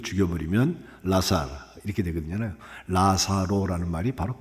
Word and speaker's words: 나사로: 나사로라고 해서 우리가 니은 니은에서 시작을 하는데 그 성경을 그 헬라마을 읽어 보면 엘 엘 발음 리을자입니다. 라사로 북한에서는 그렇게 하면 그냥 라사로라고 하는데 남안에서 우리가 이제 앞에 말이 리을일 때는 리으로 이제 바꿀 수 있는 경향이 있기 때문에 나사로 나사로 하거든요. 근데 LA입니다.